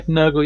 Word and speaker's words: Nurgle: I was very taken with your Nurgle Space Marine. Did I pronounce that right? Yeah, Nurgle.